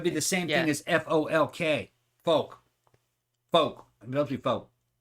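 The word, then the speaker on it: Fouke: folk probably folk folk it's f o u k folk yeah folk it looks like Falk Mississippi you'd say Folk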